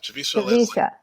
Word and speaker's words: Javicia Leslie: announcement, and I believe her name is pronounced Javicia Leslie? Yeah, Javicia Leslie.